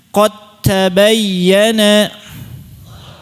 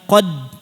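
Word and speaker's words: قد تبين: Tayib, kita akan praktekkan qat tabayyana. Jangan bunyi dal lagi, jangan qad, jangan. Qat tabayyana. Nah, cara bacanya antum ini hilangkan saja dalnya, seolah-olah hilang. Qat tabayyana. Sempurna, kamil, dalnya hilang.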